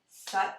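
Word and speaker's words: Sat: chant suck suck suck suck rhymes with touch nom rhymes with mom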